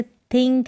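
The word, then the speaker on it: think: को द पढ़ा जाएगा लेकिन कुछ वर्ड मीनिंग्स होंगे जैसे थिंक है ये क्या है थिंक तो यहां पर थ पढ़ा जा रहा है किसी वर्ड मीनिंग की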